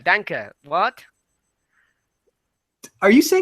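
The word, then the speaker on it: Danke: thank you again Andy Dan Dan dank memes um no that's not it that's not right Danka Danka what are you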